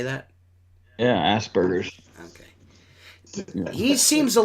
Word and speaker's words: Asperger's: Yeah, Asperger's.